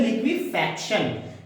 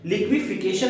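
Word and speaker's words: liquefaction: ठीक है, एंड जब लिक्विड बन रहा था वहां पर है लिक्विफैक्शन। लिक्विफिकेशन नहीं है बेटा, ये है लिक्विफैक्शन।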